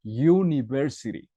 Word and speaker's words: university: Pues porque esta palabra es pronunciada university. ¿Ok? University. Entonces, vemos una Y en esta parte. University. ¿Ok? Por esa razón es una A.